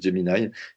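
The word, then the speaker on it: Gemini: qui a été renommé rebrandé jy donc ça s'écrit Jini mais ça se dit Jini donc Jini c'est la solution de Google et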